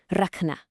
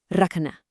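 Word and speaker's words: रखना: This is rakna. Do you hear that slight almost breathy ca sound right in the middle? Raka. Try it out. Raka.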